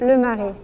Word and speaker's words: Le Marais: Le Marais, how do you pronounce it? Le Marais.